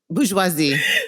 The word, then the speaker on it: bourgeoisie: french word now excuse me if i don't pronounce it correctly i don't speak french bourgeoisie but the french term huh bourgeoisie so the french yes there you go thank